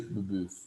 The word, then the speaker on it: Babeuf: que pronuncia aí escreve babeuf pronuncia Bubu tem que fazer o biquinho Graco Bubu Graco Bubu